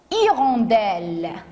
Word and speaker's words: hirondelle: peu plus compliqué écoutez une hirondelle bien sûr le h est muet ici on pense que